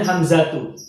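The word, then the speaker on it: حمزة: Pertama Hamzah, bacanya Hamzatu.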